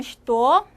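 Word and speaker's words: что: 쉬또라고 쓰고 발음은 쉬또.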